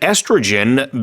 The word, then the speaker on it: estrogen: 한국에서는 에스트로겐 이렇게 하는데 estrogen. 영어는 맞아. 에스트로겐. 콜라겐도 마찬가지예요. 그 영어로는 콜라겐 안 하고 Collagen. 콜라겐 이렇게 하죠. 그래서 뒤에 gen 이렇게 발음이 좀 달라진다는 거.